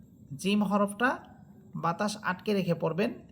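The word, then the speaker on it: جيم: দেখেন আলিফ হা দাল র সিন সদ ত আইন মিম লাম কাফ ওয়াও হামসা বা জিম জিম হরফটা বাতাস আটকে রেখে পড়বেন।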